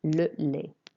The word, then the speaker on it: le lait: Le lait. Don't pronounce the T on the end. Le lait. In French, we don't pronounce the T's on the end unless they've got an E after them.